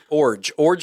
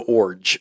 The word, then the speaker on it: Iorg: But yeah, Jeff Orge like a forge. He told us this like when we met with him. IORG. IORG, but you say it like forge without the F, so Orge.